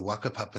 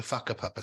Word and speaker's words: Whakapapa: Whau, because I know in Maori language, the W-H is pronounced F. Mm-hmm. And that's only because we went to what is spelt as the Wakapapa snowfields when we lived there, but it's actually pronounced the Whakapapa snowfields.